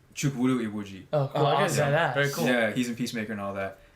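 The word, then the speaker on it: Chukwudi Iwuji: Chukwuru Iwuji.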